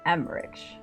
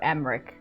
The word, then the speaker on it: Emmrich: Nick Borain, Emmrich, or Emmrich. Both pronunciations work.